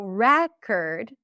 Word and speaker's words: record: I bought a new record. The primary stress is on the first syllable and then this is going to be awah.